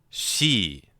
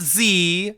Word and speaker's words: Xi: X as in the current uh the current uh leader of China. His name is Xi Jinping. She, not she, not Z, not C. She she you keep your tongue flat in your mouth and